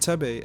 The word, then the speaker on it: Thebe: For example, the way I mispronounced Tebe as Thebe in Earl's earlier video was a stark reminder of that, and not everyone likes critique.